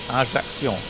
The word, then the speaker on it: Ajaccio: a travel documentary, and they went to the town of Ajaccio, and they pronounced it exactly like that, Ajaccio. No joke. And I thought, you see, I wasn't that far off with my pronunciation.